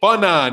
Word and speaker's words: Fannon: Name my fan, Fannon. It's in there. It's not pronounced fan, but it's in there.